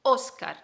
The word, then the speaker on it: Óscar: texto hola me llamo óscar óscar y lleva tilde en la o entonces la sílaba tónica la sílaba fuerte es o por eso oscar decimos vale tengo 22 años